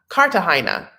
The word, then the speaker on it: Cartagena: Pronounced Cartagena. Cartagena.